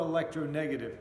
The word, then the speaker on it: electronegative: Chlorine is much more electronegative, and that's how you say it.